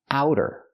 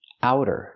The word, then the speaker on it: outer: out or outside so the pronunciation use the ow sound like how and now ow outer it's a fast D outer not outer but outer in American pronunciation outer is an adjective